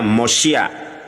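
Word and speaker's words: מושיע: Juru selamat itu di dalam bahasa Ibrani mem, vav, sin, yud, ain, dibacanya Mosia. Ya, di sini ada khirik, di sini ada fatah, Mosia dibacanya.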